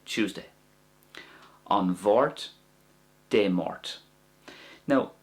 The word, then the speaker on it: An Mháirt: An Bhort or De Mort. That's the two ways to say Tuesday. An Bhort, De Mort. Now, if it's an MH sound, I pronounce that like a V sound.